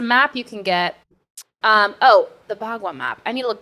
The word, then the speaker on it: bagua: Bagua? B-U-G. B-A-G-U-A. Bagua. Yeah. Like gua sha, that's also Chinese. Bagua. There's a body, or is it a body map? There's a map you can get. The Bagua map.